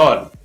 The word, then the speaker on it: whole: और जो WHO से शुरू होने वाले शब्द हैं उसमें भी W का उच्चारण नहीं होता है, तो हु, हुम, हुज और हॉल।